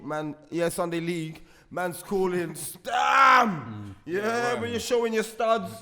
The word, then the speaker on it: Stam: Yep, Stam, because I think that's how you're supposed to say his name. Yep, Stam.